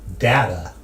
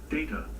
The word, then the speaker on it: Data: It is pronounced Data. Oh? This is where Don't be Pulaski's racist. kind of like old school racist, but she doesn't mean to be. One is my name. The other is not.